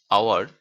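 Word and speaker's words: hour: হাওয়ার, এখানে এইচ এর উচ্চারণটা কিন্তু আসেনি, এই জন্য এটাকে এটাকে না এটাকে এটা এটাকে নির্দিষ্ট করা হয়েছে, তার জন্য দি বসেছে।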